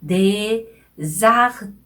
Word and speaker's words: désarticulé: 그래서 désarticulé 이렇게 발음하는 거예요. désarticulé.